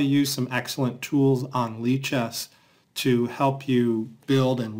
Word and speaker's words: lichess: for how to use some excellent tools on leaches to help you build and learn an opening repertoire so log in to leaches if you don't have an account it's free